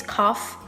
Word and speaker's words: cough: This one is cough, this one is through, this one is though, and this one is tough. Learn pronunciation so you know the system of all